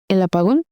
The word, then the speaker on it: El apagón: El apagón.